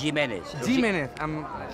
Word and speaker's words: Jiménez: Jiménez. Jiménez. Es pronunciat així amb la G catalana. Amb la G catalana. No G de castellà.